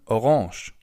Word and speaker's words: Orange: which is orange or in German orange. As you can see the writing is exactly the same only the pronunciation is a little different instead of orange.